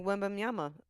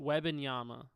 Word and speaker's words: Wembanyama: He's going to come out like Wembanyama. I don't even know how to say his name. Yes! That brother... How do you say his name? Wembanyama.